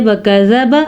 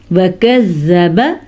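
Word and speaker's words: كذّب: اگر آپ پڑھتے ہیں وَكَذَّبَ آپ غلط پڑھتے ہیں، وَكَذَّبَ شد ہے.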